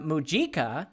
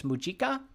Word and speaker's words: Mujica: Calabria Don Fernando borja muika is a top Mexican banker and criminal financier Don Fernando borha mu uh I think it's muika Mr Fernando borha muika or Mika serves as Secretary of